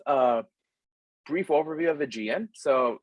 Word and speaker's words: AIgean: here so here's a brief overview of the gm so it's pronounced much like the archipelago on the c